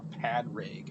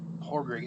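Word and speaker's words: Pádraic: all right all right they don't pronounce the d it's like it's not pad rig or podrig or whatever it's like horroring and this is the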